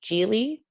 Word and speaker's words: Gjieli: It's pronounced Gjieli. It's my husband's last name and I'm proud of it. But it's very difficult to read. So it's Gjieli.